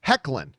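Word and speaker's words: Hoechlin: don't care uh and tyler's last name is pronounced hecklin well it's spelt hoakland so whatever and about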